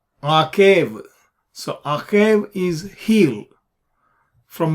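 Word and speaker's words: עָקֵב: the word a cave a cave is Ein cough Beth wet like without the Dage you pronounces were a cave so akhab is healed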